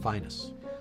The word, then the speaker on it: Phineas: And when you mentioned that, I think of Phineas Newborn too. He had his problem. Finest. I know that. I didn't want to say it though, but well, Calvin told me that's how you say it.